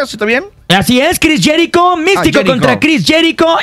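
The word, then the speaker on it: Jericho: va a ser mano mano Místico contra Cris jicho as se pronuncia está bien así es Cris jerico Místico contra Cris jerico y también hechicero y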